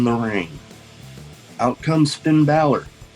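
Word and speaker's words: Bálor: ring out comes finn balor yes that's finn ballard people that say baylor just what the pronounce the damn name right anyways out he comes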